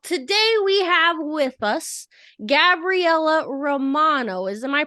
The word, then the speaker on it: Gabriella Romano: all right well today we have with us Gabriella Romano is am I pronouncing that right yes so we have with